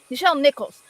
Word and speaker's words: Nichelle Nichols: Nichelle Nichols.